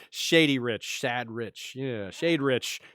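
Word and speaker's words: Shadrich: rich sad rich yeah shade rich shade rich that's how you pronounce it and it's pretty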